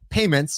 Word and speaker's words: PYMNTS: According to a new study from retail research company Payments, it's spelled Pymnts, very clever.